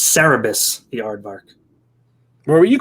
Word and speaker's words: Cerebus: i talked about it i got the pronunciation pronunciation wrong it's cerebus the aardvark where were you calling it the rebus i don't know because i thought cerebral cerebral